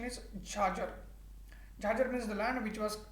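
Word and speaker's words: chachar: there is jhajar land is c-h-a-c-h-a-r but the pronunciation is charger means the land which was uh cultivated every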